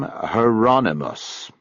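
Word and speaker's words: Hieronymus: He pronounced the first name Heronmos. I thought that was how you said it. Rhymes with anonymous.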